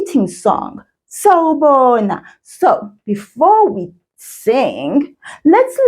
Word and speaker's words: sawubona: The word sawubona has 4 syllables in it. Sa, wu, bo, na. I'm going to repeat those, but I want you to pay attention to those sounds. Sawubona. You hear 4 sounds there. So that's 4 syllables.